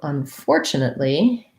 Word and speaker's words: unfortunately: um not three e's so unfortunately um chin or chun this is either or an sound unstressed so this word i